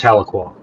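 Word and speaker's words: Tahlequah: Dan, how do you pronounce this? Tuca. Oh, that's that's Taloqua.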